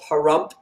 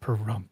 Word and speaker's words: Pahrump: So I was in the building department in a small little town called Pahrump, Nevada, spelled just like it sounds with a silent H. Pahrump, That's where Nevada. Art Bell was from, Pahrump.